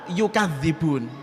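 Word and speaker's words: يُكَذِّبُونَ: Bisa dibaca bima kanu yakdzibun dengan takhfif, berarti tanpa tasydid, atau dibaca dengan bitasydid, bima kanu yukadzibun. Nah, berarti bisa 2 bacaan.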